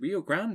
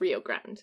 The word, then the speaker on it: Rio Grande: to do just that is it rio grande rio grande rio grande rio grande well i mean in english it's rio grande it's the rio grande but yes it means big river in spanish rio grande they gathered in